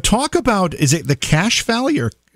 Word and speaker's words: Cache Valley: But talk about, is it the Cache Valley, or how do you pronounce it? Yeah, it is. It's pronounced Cash Valley.